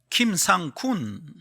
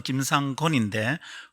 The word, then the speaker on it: 김상건: 외국 사람들이 제 패스포드로 여권을 보고 제 이름을 이렇게 읽는 겁니다. 김상군. 저는 김상건인데 건을 영어 표기로 KUN을 씁니다. 그래서 어떤 외국인이 제 여권을 보고 그렇게 읽었어요.